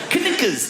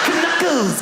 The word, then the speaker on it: knuckles: all the letters that why would a K BE SILENT? KNUCKLES. WHY IS IT K? KNUCKLES.